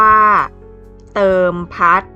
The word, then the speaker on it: เติมพัฒน์: ท พุท เฒ่า น หนู การัน อ่าน ว่า เติม พัด สะกด ด้วย ภาษา อังกฤษ T O E m p